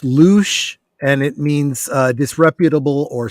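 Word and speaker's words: louche: that's any thoughts uh apparently it's pronounced loose and it means disreputable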